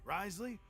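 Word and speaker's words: Wriothesley: never cross the Duke Risley he knows more than you think rley that's how you say his name if he doesn't care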